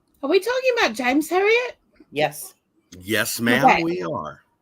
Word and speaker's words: Herriott: Herriott. Thank you. As in the famous author.